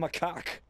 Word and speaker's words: macaque: A some macaque. That's how you pronounce it.